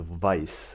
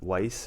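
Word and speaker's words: Weisse: it's called cold as as a vice or weiss or if you want to take the german or the english pronunciation and it's a berliner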